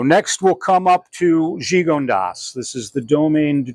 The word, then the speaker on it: Gigondas: So that's why you don't say like Vaccara, you just pronounce the S. Cornas, Gigondas, they're all hard-ending words because they're not French.